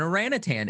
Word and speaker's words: orangutan: Hey, you said it right, Ish. Right? Yeah, there's no G. Yeah, see, there's no G in there. Well, there is one G. You missed the first G, but yeah, no, there's no.